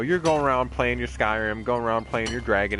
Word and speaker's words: Skyrim: because in the game, they say Skyrim like a fuck ton. It's not ski rhyme or whatever, but it's like, damn,